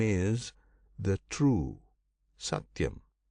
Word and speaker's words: Satyam: And of that Brahman, the name is the true Satyam. This name Satyam consists of three syllables. Sati yam.